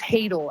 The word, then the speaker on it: Hadel: um my name's it's hadel actually a non-german pronunciation so but it's cool